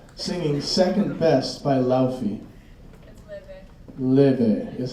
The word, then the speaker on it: Laufey: Leve is how it's pronounced, by the way.